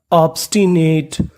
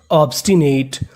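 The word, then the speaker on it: obstinate: NATE नेट, ऑब्स्टिनेट का मतलब होता है जिद्दी। तो मीनिंग बनी हमारी सबऑर्डिनेट, ऑब्स्टिनेट।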